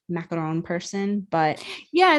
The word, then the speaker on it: macaron: Macon ma confus me macaroons are like the coconut things that usually have like chocolate melted around them the fancy French Patisserie is a macaron well that makes sense because that's a very French pronunciation so I it is